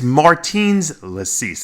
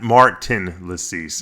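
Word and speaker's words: Mārtiņš Licis: So Martin Latisse was, I always screw his name up because it's Martins Latisse. It's not Martin Latisse. It's Martins.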